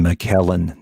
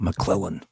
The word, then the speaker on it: McKellen: that uh played frodo i think ian mckellen not mcclellan whatever he's not going